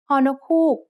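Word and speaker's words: ฮ: Ho nok hook makes a h sound just like the h in hoot.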